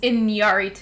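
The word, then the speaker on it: Iñárritu: a film by alejandro inyarito he would that how do you pronounce it better than me it's in yarity in yuri too it's got the accent there uh so this is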